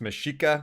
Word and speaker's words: Mexica: i just know the it's seems like it's pronounced mashika because i i saw the dev saying in a video so i'll i'll be